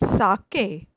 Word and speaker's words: sake: here I would like to tell you that Saki Saki is pronounced like fr and K in Japanese it's